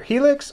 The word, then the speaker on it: Helex: Qaeda from iron Factory it's either helix or HELOCs depending on how you want to say it it's spelled hele x so we're going with HELOCs from now on so when I say